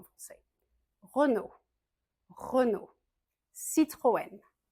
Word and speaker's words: Citroën: Renault Renault Citroën Citroen Citroën et une voiture très célèbre de chez Citroën, une voiture typique française de l'époque, c'était la de chevaux.